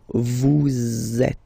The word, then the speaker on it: vous êtes: So in that case, vous is ending with S, and then you tend to make a little link between them. So vous êtes. Z, it goes like that.